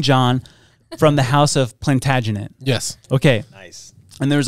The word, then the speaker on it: Plantagenet: how to say this I can't if you spell it I can't get it I got it plantagenet plantagenet plagen plantagen PL first try plantag plantagen